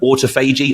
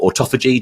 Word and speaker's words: autophagy: So this can certainly help with autophagy or autophagy, depending on how you want to pronounce it, which is essentially the cellular cleansing